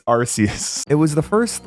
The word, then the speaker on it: Arceus: pronounce Arceus Arceus Arceus I was right you're wrong all right it's Arceus it was the first